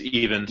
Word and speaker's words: Ifans: I thought Rhys Ifans. I apologize if I'm butchering that name. Rhys Ifans. No, it's even. Rhys Ifans. It's Evans.